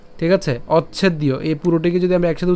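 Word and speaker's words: অচ্ছেদ্যো: করব কিভাবে অচ্ছেদীয় হ্যাঁ এখানে আমরা অচ অর্থাৎ চকে উচ্চারণ করছি অচ এরপর কি হবে ছেদ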